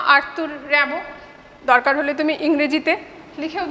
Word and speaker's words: Rimbaud: তোমাকে যেটা জিজ্ঞেস করতে পারে ফরাসি কবি কে, তিনি কি বলেছিলেন, ঠিক আছে, তুমি নাম বলবে জাঁ আর্তুর র্যাবো। দরকার হলে তুমি ইংরেজিতে লিখেও দিতে পারো।